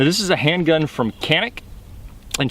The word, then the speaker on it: Canik: these and how uh in Turkey they pronounce it janic while canic here in the US is the proper pronunciation and the how the